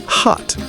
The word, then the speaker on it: khat: In Yemen's bustling markets, one of the most striking sights is a leafy green plant called khat, pronounced hat, which looks like spinach.